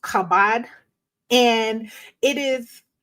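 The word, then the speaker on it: כָּבַד: it's used here is H 3513 which is pronounced kabad and it is it's meaning is weighty heavy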